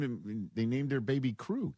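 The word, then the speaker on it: Krew: We pronounce it crew. K R E W. We are the crew. That's the Bucks. Uh I know that. So they named him They named their baby crew.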